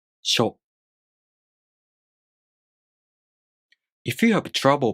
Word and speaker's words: しょ: shu To pronounce しょ, the tongue moves from the [ɕ] consonant to the [o] vowel. sho If you have trouble